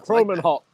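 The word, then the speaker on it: Kromenhoek: quarterback Luke croman o how how do you pronounce his last name first of all Luke croman Hawk croman Haw oh croman Hawk and uh Luke is a first of all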